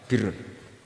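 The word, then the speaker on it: بِرّ: Ya kalau di isim fa'ilnya umumnya guru-guru kita baca barin, tapi untuk masdarnya, untuk kebaikan bacanya apa? Birun.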